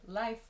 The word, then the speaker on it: life: In life, it's a very open sound. Lie, like life, life.